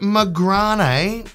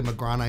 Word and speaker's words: Magrane: I'm saying that right it's got the little French uh thing here with the E so hopefully mcran is I'm pronouncing that right I think the little Dash in French means the E has to be pronounced as an a this is from Goo